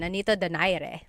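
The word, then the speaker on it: Nonito Donaire: So our first poll here is going to be Manny Pacquiao versus Nonito Daire or is in in the Tagalog uh pronunciation. Nanito Dire.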